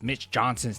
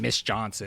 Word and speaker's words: Mitch Johnson: And they were like, "You need to pronounce Mitch Johnson's name correctly. You keep saying Miss Johnson."